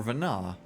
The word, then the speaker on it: Vanette: up also meeting uh Vanette um or Vena because I don't think we really pronounced the T in that name it's a prince pronunciation it still works um